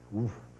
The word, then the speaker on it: WFF: well-formed formula, and I told you that they pronounce it woof.